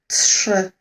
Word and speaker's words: trzy: Sometimes some of my students say that they can't really hear this t, but it is there, and I do start the pronunciation with this sound. Trzy. It's just, I think, because sh, t, sh, they kind of, melt together. But you do need to say t. Don't ignore this letter.